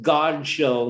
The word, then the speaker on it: Godchaux: more recently god's show it rhymes with god show not dog chow 50 years ago this